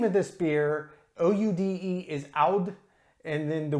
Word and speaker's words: Oude: So the name of this beer, O-U-D-E, is Oude, and then the word, I'll just pronounce it, it's Geuze.